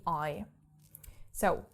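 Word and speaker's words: ich: pronounce that and yes you don't only have this after the e but also after the I so i c becomes is and you might have heard this word because it actually means I so is I and yeah so we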